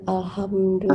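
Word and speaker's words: الحمد لله: Saya mau tanya yang tadi tentang pengucapan alhamdulillah itu, Pak Joko. Jadi, yang benar itu gimana? Alhamdulillah.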